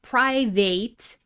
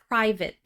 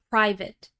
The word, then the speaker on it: private: This is not pronounced private, it's private, private.